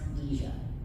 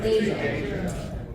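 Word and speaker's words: Dejah: Is it Deja or Deja? Because I was just told on the floor that it's actually pronounced Deja. Does anyone know? Deja. It's Deja.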